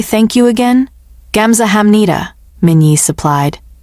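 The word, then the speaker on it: 감사합니다: Gamsahamnida. Min-jun supplied. Gamsahamnida.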